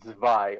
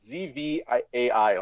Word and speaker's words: zwei: Yeah, well, it's like the reason it's like it's the word is it's zwei, like z. It's pronounced Zwei. like zvai, like zwei.